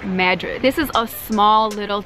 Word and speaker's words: Madrid: this town is called not madrid it's actually pronounced madrid this is a small